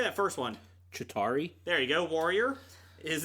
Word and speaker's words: Chitauri: Chitauri.